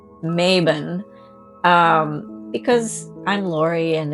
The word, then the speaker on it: Mabon: of Equinox or M maon Mayon whatever part of the country you're in Embrace however you want to pronounce this spelled m a b o n yes so I'm going to say maen um because I'm Lori